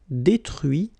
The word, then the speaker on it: détruit: Okay, so you can notice that even if I put this final T, so as usual, I don't pronounce it. Okay, conduit, construit, cuit, détruit, instruit.